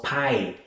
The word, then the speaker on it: pie: Vamos con la siguiente, pie. La E no suena, decimos pie.